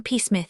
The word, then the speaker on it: Psmith: "I am Peacemouth," said the old Itonian reverently. "There is a preliminary P before the name. This however is silent like the tomb compare such words as tarmaggan psalm and thusis.